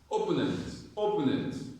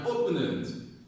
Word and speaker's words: opponent: Now, this word, most persons pronounce it as opponent. But when you say opponent, he's my opponent. You're stressing O. Opponent. The correct pronunciation is opponent. The stress is on po.